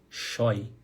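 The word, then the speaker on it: scheu: Pronúncia choi. Choi. Choi.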